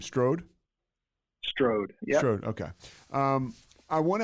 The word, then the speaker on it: Strode: now how do you say your last name Strode Strode okay um I want to ask you